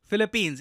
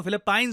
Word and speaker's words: Philippines: है इंडिया के लिए फिलिपींस इसको फिलीपाइन नहीं प्रोनाउंस करते हैं हम काफी बार इंडिया में हम लोग फिलीपाइन बोल रहे होते हैं फिलिपींस देखिए एक